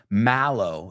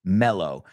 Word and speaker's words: mellow: Y lo escriben como se pronuncia, porque no es mallow, it's mellow.